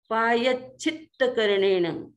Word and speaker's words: पायच्छित्तकरणेण: उत्तरीकरणेण पायच्छित्तकरणेण, दो त है इसलिए पायच्छित्त, आगे भी दो संयुक्त अक्षर है च और छ और पीछे भी, तो यह पर थोड़ा सा दबाव आएगा। पायच्छित्तकरणेण विसोहीकरणेण, यह कई बार